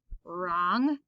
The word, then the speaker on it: wrong: n k n etc w r the w is silent so we get an er sound right wrong ren which is a type